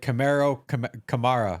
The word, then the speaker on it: Kamara: See, I learned how to say his name because like Mark Ingram put out a video and he's like Kamara. I was like, all right, well that's it. Like that's how I'm saying it.